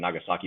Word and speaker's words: Nagasaki: The old the Fukushima and not Fukushima, Hiroshima and Nagasaki bombs were Thank you for using the proper, Japanese pronunciation.